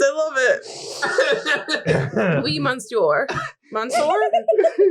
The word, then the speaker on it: monsieur: Monsieur? Kelly, say monsieur properly. It's monsieur. Monsieur.